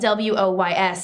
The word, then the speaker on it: Woys: But it rhymes with that because it's spelled Woys, so it's basically just interchanging out the first letter.